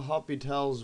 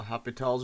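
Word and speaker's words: L'Hôpital's: So we're going to discuss the Hopital's rules, pronounced like that, spelled like hospital, but it's called the Hopital's rule, and the indeterminate forms, what they are basically, illustrated what it is.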